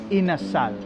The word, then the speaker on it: inasal: Chicken inasal.